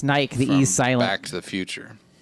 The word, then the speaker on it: Nike: he'd like Kanye but Nike is named after a Greek goddess right yeah a Greek goddess this actually pronounced Nikki I learned that from its Nike Silex the future it's